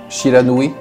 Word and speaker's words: Shiranui: dont la fourrure était blanche commeig fut surnommé Shiranui je prononce bien oui Shiranui Shiranui ça marche ok oui parce que tu